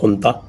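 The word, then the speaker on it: junta: इनकी जो नता है जेयू एन टीए प्रोनाउंस नता तो ये इनकी जो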